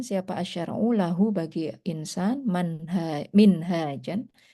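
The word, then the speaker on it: منهاج: Warosama dan menggambarkan siapa asyara'u lahu bagi insan minhajan. Jadi kalau hanya panjang itu minhaj. Tapi kalau hanya pendek manhaj bacanya ya.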